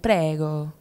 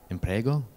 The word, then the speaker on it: prego: And prego. What's that mean? I think it means you're welcome. Imprego? Prego. Prego. Yeah, I think we should try with the accent though. Prego.